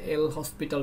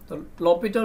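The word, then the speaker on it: L'Hôpital: যেটাকে আমরা অনেক সময় স্পেলিংটা এরকম হয় এল হসপিটাল টাইপের বাট প্রোনাউন্সিয়েশনটা লপিটাল হবে আর কি লপিটাল রুলসটা তখন আমরা এপ্লাই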